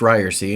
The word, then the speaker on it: Ryerse: But before we get to that, this podcast is called It's Pronounced Ryerse, and I've heard from some of you who don't love the name.